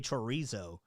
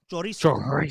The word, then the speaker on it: chorizo: Rocket New Era is hating on the way that I say chorizo. Well, you want me to say it real Latin? Chorizo. Chorizo. Chorizo. Chorizo.